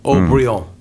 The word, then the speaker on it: Haut-Brion: Case in point, one of the world's most famous wines, Haut-Brion, right? I'm not much of a wine drinker. Well, it's a very, very famous label. Sure. And it's actually the French pronunciation of O'Brien.